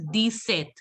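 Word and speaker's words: dix-sept: And set, you must have heard that also. What is set? Set. 7. Very good. Seven. Set is 7. So 10 Seven. plus 7 is 17. So that is why in 17 it is deset.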